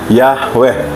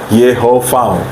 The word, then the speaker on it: Yahweh: Kemudian kata berikutnya Yahweh atau pelafalannya Yehovah, yang artinya Tuhan.